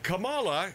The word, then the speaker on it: Kamala: Well, Kamala, and if you want to know how to pronounce her name, just think communist.